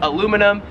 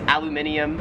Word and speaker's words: aluminium: over food and whatnot we would call it in america aluminum here in australia it is aluminium 10 is the apparel